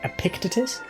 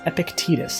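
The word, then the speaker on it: Epictetus: Uh that's how it's pronounced. By the way, I said Epic Epictictus is Epictitus.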